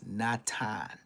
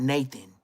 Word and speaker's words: Nathan: My next door neighbor name was Natan, not Nathan. But it's spelled Nathan. But you say Natan white boy.